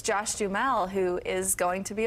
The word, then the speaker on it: Duhamel: yes exactly and then this week it's Josh Jal who is going to be a father as well is that how you say it say it again Josh Dell okay I've never known how to I know